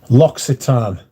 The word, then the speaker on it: L'Occitane: what which brand are you talking about loxitan yes tan L'Occitane on Provence um they have